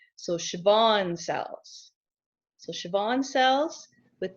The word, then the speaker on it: Schwann: are called Schwann cells the W is pronounced like a B so Chabon cells so Chabon cells